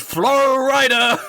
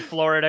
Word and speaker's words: Flo Ryder: next up we've got flo ryder i pronounced it florida because i didn't know how to say his name at first yeah that's okay that